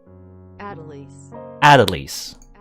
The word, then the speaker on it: Adelise: Where's English? English. Adelise. Okay, that's how that's pronounced.